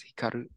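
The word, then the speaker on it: 光る: perfect why yes uh do you know what this verb is pronounced says pronounced as Hikaru Perfect Light um can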